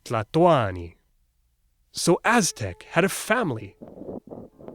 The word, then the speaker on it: Tlatoani: In the old days, they said, Mexicatl, Tlatolli, Tlatoani. Oh, and they stressed the second to last syllable, Cuicatl, Hueyi Tlatoani.